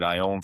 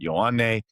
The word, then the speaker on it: Ioane: A lot of people put an L in front of it because they don't believe there's that many vowels to start a name. So you hear loan all the time, or